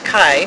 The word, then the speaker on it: Kai: It's Kai, right, who plays Reese? Yes, Kai Owen. Yeah. You didn't mispronounce it. It was spot on.